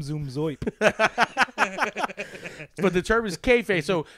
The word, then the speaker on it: kayfabe: It's spelled weird, but it's pronounced KAYFABE.